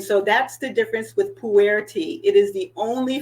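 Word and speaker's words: Pu'er: tea uh type that I have is called puer and I know it's you know Americans really aren't that familiar with it because it's spelled weird but it's pu apostrophe e RH so uh puer and the thing about puer is the Once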